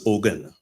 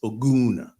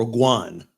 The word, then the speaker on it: Ogun: of the word and I was known as oen but the correct pronunciation is oun or uan um and so like I said I'll answer